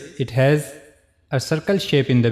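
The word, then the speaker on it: هاء: So for pronouncing ha we have to use the lowest part of the throat which is on the chest side.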